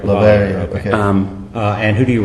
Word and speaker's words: Lavalliere: How do you say it, LAVALLIERE? I say LAVALLIERE. LAVALLIERE, okay.